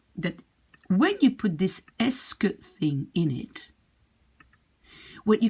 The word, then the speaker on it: est-ce que: And it's really pronounced like est-ce que. So we could in fact write it like est-ce que, right? This is just pronunciation.